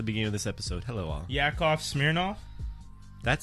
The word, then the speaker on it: Yakov Smirnoff: he was always there he said yakov smirnoff y-a-k-o-v and then smearing off the way it's spelled and he's okay he's